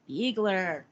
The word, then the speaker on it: Biegler: and fire my Dark Horse Journey Mr Dan biegler please tell me I pronounced your name correctly perfect perfect I always